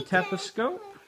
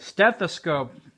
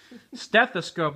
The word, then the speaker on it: stethoscope: one of those Band-Aids here's the teos scope I think I'm pronounciating that right Baby Alive what stethoscope stethoscope a I sound like a big idiot now stethoscope there you go my wife had to correct me I bet everyone who